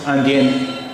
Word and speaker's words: indien: देखिए I-N-D-I-E-N, आंदियाँ, ये masculine singular है, और इसका प्लूरल हमने बनाया एस लगाकर I-N-D-I-E-N-S, आंदियाँ, लेकिन प्रोनाउंसिएशन दोनों का आंदियाँ ही होगा।